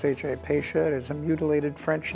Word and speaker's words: Pasha: a little bit first of all the correct pronunciation is pacia correct p a s ha a pacia is a mutilated French name okay the origin